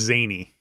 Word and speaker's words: Zane: There's Zane Skywalker. He's the son of Ben Solo and Rey Palpatine. It's pronounced Zany. Zany Skywalker.